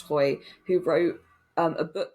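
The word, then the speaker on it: Hoeye: Hoy is spelt weirdly, but I think it's pronounced Hoy, who wrote a book called Time Waits for No Mouse.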